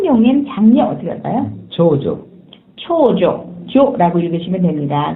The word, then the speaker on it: 長女: 長女、 조라고 읽으시면 됩니다.